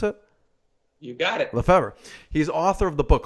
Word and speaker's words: Lefevre: How do you pronounce it? You got it. Lefevre.